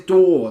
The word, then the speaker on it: DAW: get to explain um the first one is door that's spelled d-a-w not d-double-o r um something called dawson